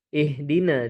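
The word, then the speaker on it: اهْدِنَا: Ee di awal-awal ee Mas Imba ihdina jangan ih kalau dialirkan ihdina jadi hak kecil ya. Jangan dialirkan, jangan dialirkan ee sukunnya. Ha sukun di sana ha besar.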